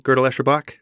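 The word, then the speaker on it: Gödel, Escher, Bach: And could you just pronounce GEB, Gödel-Escherbach?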